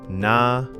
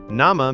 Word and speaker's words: Nama: Nama. Nama means name, and it sounds very similar to the English word.